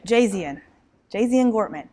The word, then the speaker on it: Jazian Gortman: All right, Jazian Gortman.